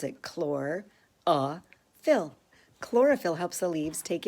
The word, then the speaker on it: chlorophyll: that is we get to see how to pronounce it chlor ah fill chlorophyll helps the leaves take in light from